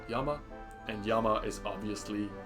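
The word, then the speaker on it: 山: And that kanji is pronounced Yama.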